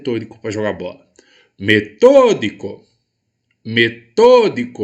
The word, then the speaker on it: metódico: para jogar bola metódico metodico em qual a sílaba mais forte metodico tô tô é minha sílaba a tônica e eu tenho então